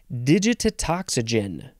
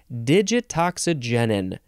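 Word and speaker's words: digitoxigenin: next word Z digitetoxygen digit no I added a syllable digitoxygenin maybe I had less syllables digitoxygenin d-i-g-i-t-o-x-i-g-e-n-i-n noun from Circa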